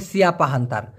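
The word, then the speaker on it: siapa: দিচ্ছে অনেকে হ্যাঁ ভাই মূলত সঠিক উচ্চারণটা হবে সিয়াপা বা সাপা ওরা বলে ছাপা সিয়াপাকে অনেকে বলে ছাপা মানে কে বলে কে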